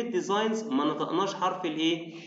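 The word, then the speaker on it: design: تصميمات برده في كلمه ديزاين تمام يبقى عندنا كلمه ديزاينزقناش حرف الايه الجي تمام يبقى الجي هنا ايه سايلنت يعني هي مستر سايلنت يعني نكتبه بس ما ننطقهوش طيب عندنا كمان كلمه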